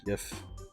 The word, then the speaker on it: GIF: The first image was an airplane, insisting the file had only one pronunciation: a soft G like GIF.